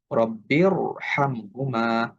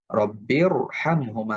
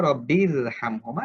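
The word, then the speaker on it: رَبِّ ارْحَمْهُمَا: শব্দ আরবরা আমাদেরকে বলছে এখানে আমাদেরকে মোটা করে পড়তে হবে আমরা সেই অনুযায়ী আমরা এরকম পড়ব রব্বিরহামহুমা রব্বিরহামহুমা আমরা এরকম পড়বো না রব্বিরহামহুমা এটা ফুল উচ্চারণ আশা করি আপনারা বুঝতে পারছেন তাহলে এটা হচ্ছে র সাকিন তার পূর্বে যদি জের হয় জের হওয়া সত্ত্বেও এই রটা মোটা হবে এই শব্দ আমাদেরকে মনে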